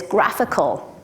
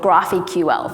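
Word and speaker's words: GraphiQL: especially convenient with this graphical IDE which I called graph eql for my entire time up until I realized graphical is much much better way to pronounce that it makes much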